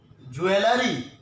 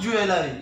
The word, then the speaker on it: jewelry: How do we pronounce it? Jewelry. It's not jewelry.